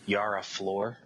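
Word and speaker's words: Yara Flor: her name it was I mispronounced her name last time we spoke about it but it's a Yara floor okay floor I mean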